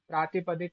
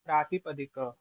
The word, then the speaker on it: प्रातिपदिक: प्रातिपदिक कोई नहीं प्रातिपदिक। ककार के बाद का कार का उच्चारण करना।